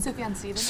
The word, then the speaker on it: Sufjan Stevens: Sufjan Stevens.